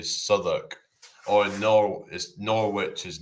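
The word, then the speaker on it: Southwark: It's like Southwalk, but it's actually Soduk or Nor is Norwich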